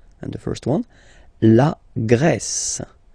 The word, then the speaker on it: Grèce: And the first one, la Grèce. La Grèce. Okay, so remember gr, gr. And then this accent grave like that, open.